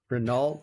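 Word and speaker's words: Hinault: compared her to Bernard Renaol. Bernard Renaol something like that. No way. Okay, give me one more time. Who? Isn't it Bernard? Okay, no. You don't pronounce the H. Not Han.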